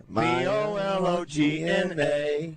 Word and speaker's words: bologna: When you spell it, it doesn't look like Well, you have to sing the song to spell it. B O L O G N A.